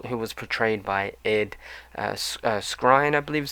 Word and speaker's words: Skrein: And the main villain was a character known as Atticus Noble, who was portrayed by Ed Skrein, I believe is how you pronounce his name, or Skrein, Skrein, and he does a really good job.